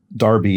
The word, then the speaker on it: derby: at the crosses uh derby eg or darby as it would be pronounced over here in britain as the hat response